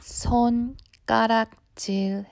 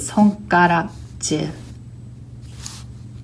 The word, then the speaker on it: 손가락질: So if you were to read this letter and that letter alone, it would be pronounced as 손, 가. However, because there is an ending consonant and a beginning consonant, it ends up pronouncing with 가. So instead of 손가락질, I pronounce it 손가락질.